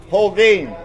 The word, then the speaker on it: Holguin: Holguin.